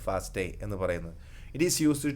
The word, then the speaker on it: FASTA: FASTA stands for Fastol, pronounced as FASTA.